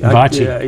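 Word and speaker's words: VACI: I know you pronounce it correctly. Vachi.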